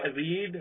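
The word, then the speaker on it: read: रीड का बड़ा important है, जैसे रीड, रेड, रेड। देखिए स्पेलिंग सेम है लेकिन प्रोनाउंसिएशन चेंज हो गया।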